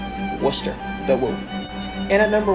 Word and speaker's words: Worcester: came out a little bit strong there it's worcester not warcaster not wolcester worcester the woo and at number one you all